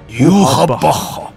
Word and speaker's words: Yhwach: désespoir le plus profond, Yorappa, père de tous les Quincy, fils du roi des esprits. Oui, j'ai décidé de le prononcer à la japonaise pour une fois, c'est encore plus stylé.